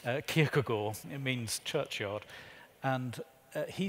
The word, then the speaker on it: Kierkegaard: So, like Kierkegaard, the Danish theologian, I lived in Denmark, please note I know how to say his name, Kierkegaard, it means churchyard, and he said that the